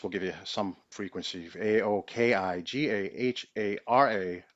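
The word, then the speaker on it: Aokigahara: give you some frequency a o k i g a h a r a a better pronounciation maybe Aoki gahara gahara Aoki a o Ki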